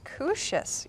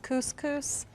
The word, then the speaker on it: couscous: garlic and red peppers kooshes you know i've not tried these before that's well actually i think that one's pronounced couscous and that comes in